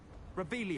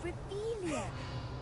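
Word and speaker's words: Revelio: Revelius. You're saying it wrong. Revelia. Revelia.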